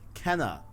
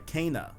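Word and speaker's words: Kena: notification on my watch kenna bridge oh no i'm sorry cana that's how it's pronounced cana bridge of spirits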